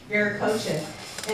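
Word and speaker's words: Viracocha: Within Myself and then the other person was veracocha or um um verac COA Inu it's pronounced veric COA and veric COA said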